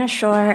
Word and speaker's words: Ashore: your last name correct is it to shore sure yes okay great welcome from excel in ed yes ma'am hi everyone my name is ashore i'm here representing excel